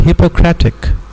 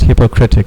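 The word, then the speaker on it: Hippocratic: Hypocratic, not hypocritic, hypocratic oath, right?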